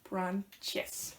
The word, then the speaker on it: branches: So when we pronounce branch, and then an S in the end, we put an E in the middle, so it becomes a syllable extra. So it becomes branches.